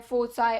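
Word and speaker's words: foci: फोकस बोल लेते हैं, यहाँ पर दो हैं इसलिए फोकाई बोलेंगे इसको। ठीक है तो फोकाई, फोसाई, अलग अलग तरीके से इसको प्रोनाउंस किया जाता है, बट हम यहाँ पर फोकाई ही देखेंगे। बाकी अगर आपको फोसाई अच्छा लगता है तो आप उससे भी इसको प्रोनाउंस कर सकते हैं।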